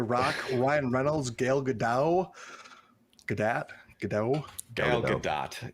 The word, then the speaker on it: Gal Gadot: Gal Gadot is what I've been told is the proper pronunciation.